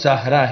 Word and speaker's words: زہرا: عربی، مطلب پھول کلی۔ زارا کا عربی زبان میں درست تلفظ زہرا ہے۔ اس کے معنی عربی